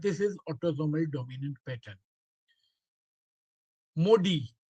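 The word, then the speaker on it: MODY: Modi that is actually the pronunciation is modi.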